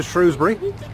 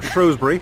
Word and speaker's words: Shrewsbury: we've made it to shrewsbury or shrewsbury whichever you want to pronounce it and you can